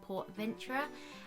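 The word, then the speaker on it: PortAventura: away to Spain to a place called like Port Venture and it's I might not be pronouncing that correctly but it's spelled like Port Aventure and it's a a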